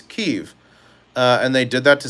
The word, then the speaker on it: Kyiv: Well, because in 2018 they changed the spelling from Kiev, Kiev, which was the Russian name and pronunciation, to Kyiv, which is more Ukrainian dialect, which is Kiev.